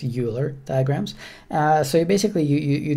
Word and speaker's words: Euler: So I'm guessing it's pronounced Euler diagrams.